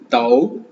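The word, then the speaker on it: 都: பொருள் தான் குறிக்கும் தாய் தாய் தாய் தாய் தாய் தவ் தவ் தவ் தவ் தவ் டி நம்ம பார்த்தோம்.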